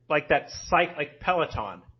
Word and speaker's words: Peloton: Peloton, like Peloton. Spelled like that.